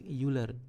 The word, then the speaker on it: Euler: teku elasti euler ee tekuk elastik yuler panggilnya bacanya seperti itu nah kemudian panjang efektif